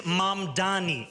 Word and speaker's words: Mamdani: And furthermore, the name is Mamdani, M-A-M-D-A-N-I. You should learn how to say it because we got to get it right.